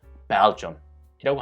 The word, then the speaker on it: Belgium: 이음절로 이제 앞에 강세를 두고 두 번째 음절은 야금 처리해서요. 좀으로 발음해서요. Belgium이라고 합니다.